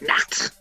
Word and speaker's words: Nacht: You gotta really hit it like Nacht.